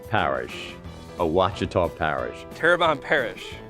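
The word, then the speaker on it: Ouachita: parish cheetah parish alchita wichita maybe it's wichita wachita parish a wachita parish a wachita parish turban parish terrebonne terrabone parish tarabani terrebonne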